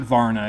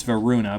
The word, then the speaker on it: Varuna: It's not Varna, it's Varuna, but it's a mistranslation, so no big deal.